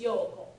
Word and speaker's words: 陽子: When they write it in Romaji, they usually don't put that extra O or O or U in there. But that's how it should be pronounced, because otherwise it sounds like her Yoko.